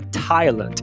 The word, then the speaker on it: Thailand: O TH também pode ser uma ortografia, como na palavra Thailand. Tem outros também. Então, nem todo TH é o fonema que você coloca a língua entre os dentes.